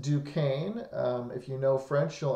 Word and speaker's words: Duquesne: and that fort was called Fort Duquesne as pronounced Duquesne if you know French he'll understand that if you don't know French just trust me it's pronounced Fort Duquesne Native Americans were actually allies of the French